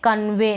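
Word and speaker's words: convey: Pronounce करेंगे, क्या ए, ई वाई को। जैसे कि इन स्पेलिंग्स में है ई वाई लास्ट में। अब हम इसको पढ़ रहे हैं कन्वे। नहीं तो अगर आपको नहीं पता होगा तो आप ऐसे तोड़ के पढ़ेंगे कन और फिर पढ़ देंगे वी, कन्वी, कन्वी।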